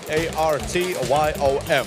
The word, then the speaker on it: Artyom: A-R-T-Y-O-M.